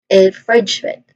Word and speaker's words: infringement: Now the further stress is on the second syllable infringe. So you say it all as infringement. Again infringement.